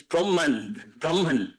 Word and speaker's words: Brahman: That is Brahman.